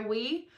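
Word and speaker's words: Ouai: and I took this o u a I we a way it's pronounced I took it with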